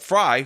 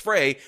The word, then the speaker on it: Frey: people to not rank Jacob Fry who should have his last name pronounced Frey as a candidate on the ballot.